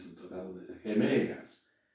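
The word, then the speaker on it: ἡμέρᾳ: Es decir, igual que el vocativo y el nominativo, pero abajo aparece esta iota que se llama iota suscrita. No se pronuncia. Las iotas suscritas no se pronuncian.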